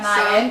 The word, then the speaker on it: sarmale: It's love sarmale for us.